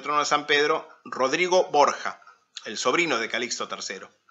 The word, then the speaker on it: Borgia: de aragón de borja en italiano borja oria que se escribe para poder seguir pronunciarse así en italiano se escribe borgia que es como usualmente